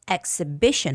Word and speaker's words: exhibition: Instead, uh, we'll focus on south exhibition hall. Exhibition. The stress goes on B I and we'll explore the